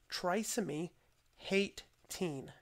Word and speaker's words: trisomy 18: of saying trisomy 18 pronounce it as trisomy hate teen hate teen so this